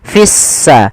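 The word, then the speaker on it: السَّمَاوَاتِ: Alif lam syamsiyah. Yaitu alif lam yang kita tulis tapi tidak kita baca. Sehingga di sini lamnya ditandai dengan warna abu-abu. Artinya lamnya dianggap tidak ada sehingga langsung diidgamkan ke huruf sin sehingga sin-nya berharakat tasdid. Seakan-akan s-nya dua. Fissa. Fissa langsung pada lafal mawa.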